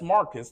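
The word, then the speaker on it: Marqus: Uh his name is Marcus Clay and it's spelled differently. It's spelled M A R Q Us. That's Marcus. That's how he spell it. And Clay, he spelled it C L A E.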